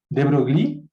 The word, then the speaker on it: de Broglie: La manera de pronunciarlo de Broglie en realidad era francés, la manera de pronunciarlo es De Broglie, pero se escribe de